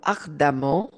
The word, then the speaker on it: ardemment: le verbe militer donc vous militez donc ardement ardemment donc avec ça se prononce à Ardant ardemment pour le respect des droits de l'homme cela